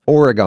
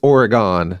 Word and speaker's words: Oregon: And I go, it's pronounced Oregon. He goes, "Not around here. It's not." Well, I thought I was correcting him, and he's "No, you're wrong. Yeah. It's Oregon." Yeah. It does make more sense of how it's spelled.